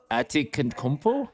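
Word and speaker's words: Antetokounmpo: Atikankompo? Yes, you did it. One more time? Atikankompo?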